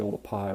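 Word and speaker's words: Oldupai: I've actually visited and a lot of people call it sort of Olduvai but it's actually old a PI which was a mispronunciation of the way it's written you know in the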